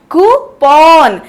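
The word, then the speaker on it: coupon: यहाँ पे मैंने क्या किया है? कूपन नहीं बोला, कूपन।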